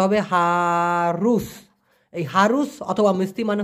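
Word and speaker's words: harus: অথবা হারুস, রুস, উচ্চারণটা হবে হারুস।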